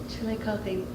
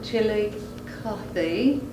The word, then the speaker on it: Chillicothe: Chillicothe.